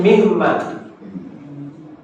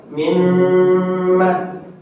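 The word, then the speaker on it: مما: dan Ma diumkan menj mimma ya terjadi igum tetapi tidak seperti ilmu Taj tidak dibaca mimma tidak tidak seperti itu tetapi cukup mimma begitu aja ya Ah seperti itu Inna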